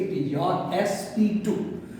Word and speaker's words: sp2: Now, the second example or second type, better to say, it is your sp2. We should not pronounce it sp square. इसको हम लोग sp square नहीं बोलेंगे, इसको हम लोग बोलेंगे sp2.